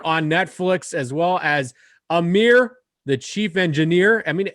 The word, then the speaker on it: Amir: And that's literally the first time I've heard that Amir rhymes with chief engineer, and I can't believe I never thought about that.